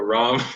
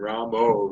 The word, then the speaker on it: Ram: But yeah, so Ram, there is a certain pronunciation, and Ramo is not there. It's not how it looks.